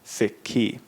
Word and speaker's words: Sikhi: s i k h i and it becomes sik key now the basically gbani now what gbani is